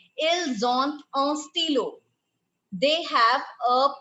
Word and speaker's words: ils ont: Now, when you have to pronounce avoir, what is the difference? Ils ont.